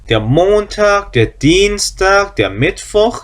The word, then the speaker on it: Dienstag: 그 다음에 Dienstag. 자, 이거 발음 주의하세요. 이하고 애가 붙어 있어요. 자, 이하고 애가 붙어 있는 경우 발음이 어떻게 한다 그러면 그냥 이를 길게 해서 이 하고 발음한다 그랬죠. 이 길게.